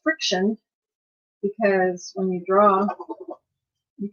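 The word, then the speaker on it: FriXion: of the friction pins a lot of people mispronounce it the actual company came visit came to visit and they said it's friction because when you draw you can erase using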